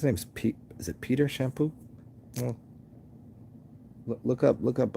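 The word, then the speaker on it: Champaux: there's there's this dude his last name is shampoo but you got to spell it like um like if you're from new orleans like i think it's a c-h-a-m-p-a-u-x shampoo um any any he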